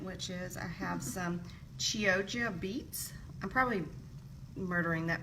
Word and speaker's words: Chioggia: I'm just going to roll it up with my showy ingredient, which is I have some Chioggia beets. I'm probably murdering that pronunciation, but that's how I've been told it's pronounced.